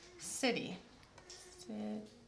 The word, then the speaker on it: city: And then how about the word city? Good job knowing that was a C, because we did that last week, remember? Yeah, good job. The soft C sound. Okay, city.